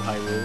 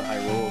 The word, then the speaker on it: Hyrule: I guess it's supposed to be like Castle Hyrule or something. Oh, you put the accent on the rule.